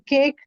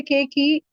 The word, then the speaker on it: cake: is underscore so teachers we don't uh pronounce e in cake and snake we don't say Kake or snakey isn't it so that